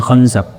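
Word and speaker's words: خنزب: Ada namanya membaca finzib, ada yang membacanya khanzab.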